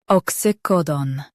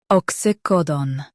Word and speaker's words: oxycodone: ox ycodone Stress co and keep done clear.